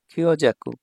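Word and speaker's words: 強弱: আর এটা হচ্ছে দুর্বলতা বুঝায় ঠিক আছে ভাইয়া খিও জাকু খিও জাকু এই তারপর 17 নাম্বার কাঞ্জি এটা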